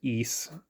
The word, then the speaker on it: Ys: I think it's pronounced Ys, as in IS, even though it says Ys to me.